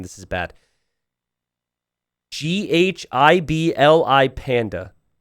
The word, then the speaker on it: Ghibli: name this is bad g h i b l i panda is it like a silent h ghibli yeah ghibli panda thank you